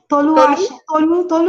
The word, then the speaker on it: Tolu: Tolu. Tolu is for short.